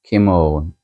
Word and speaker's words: Kimon: Things like Kimon is Kimon. I think it's more of a British pronunciation. So own like oh, Kimo, Kimo.